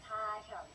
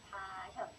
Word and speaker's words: 다현: How to pronounce Twice names? Twice. 멤버들. 나연. Sorry. 각자 얘기하면 되겠다. I'm 나연. 나연. I'm 다현. 다현.